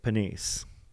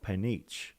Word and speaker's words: Panisse: They are Santa, Julian Galuzzi, Panda, Pete Mortimer, and, not in screen, Nick Panisse. Of course, it is Nick Panisse, not Panich.